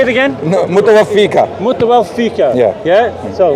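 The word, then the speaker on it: مُتَوَفِّيكَ: Ya Isa, inni, mutawafika, right? That's incorrect. Right. Mutawaffiq, yeah. Your pronunciation is incorrect.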